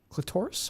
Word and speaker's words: clitoris: Clitoris? How do you say Yes, sir. Yes, sir. That's I say clitoris. hard T or soft T? It's like the Taurus, like a Ford Taurus.